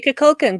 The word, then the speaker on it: Kukulkan: Shatner yeah, pronounced it. We're just gonna say Kukulkan because I looked it up online, and that is how you say it.